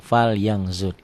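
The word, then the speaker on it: فَلْيَنْظُرْ: tulisan dan bacaannya berbeda ditulisnya ada bunyi n-nya Fan ya Fal Yan falan kan ada n-nya kan dibacanya tambah G jadi fal yangang fal yangzur itulah ikhfa indallah hukumnya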